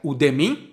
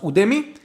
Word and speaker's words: Udemy: I went to this website udmi or udmi I don't know but I think it's pronounced udmi and you have these